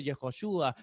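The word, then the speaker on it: Yehoshua: dice a donar y no se dice jesús se dice yehoshúa ya ayuda yo o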